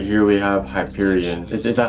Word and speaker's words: Hyperion: Right here we have Hyperion. Is that how you pronounce it? Hyperion. Yes, it's Hyperion.